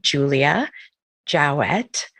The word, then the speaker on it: Julia Jowett: So I want to welcome Jolla Jowett to our podcast. Am I saying it right even? Yes. You nailed it.